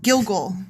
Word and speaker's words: Gilgal: Oh, I said it wrong. Gilgal.